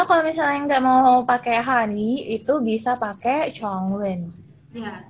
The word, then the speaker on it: 汉语: tone yang keempat Han, kemudian U-nya itu kalau kita pinginnya itu Y dan U, tapi kita bacanya U, mulutnya U, suaranya I gitu.